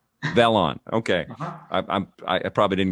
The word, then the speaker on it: Velan: new experience with vlon is it how do you say it vellon or vlon it's actually valen velon okay i'm i probably